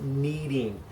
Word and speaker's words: kneading: the process of it kneading not like I need something I need a drink of water a different kind of kneading as in spelled with a K so you knead in